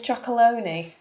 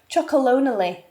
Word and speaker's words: Tony's Chocolonely: she's never tried Tony's chalone are you crazy oh my God it's unbelievable babe she's never tried Tony's choc chocon is actually how you say it chocon yeah cuz I